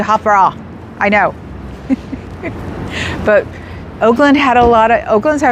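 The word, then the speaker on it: Hofbräu: I pronounced it Hofbrau forever. I know it's supposed to be Hofbrau.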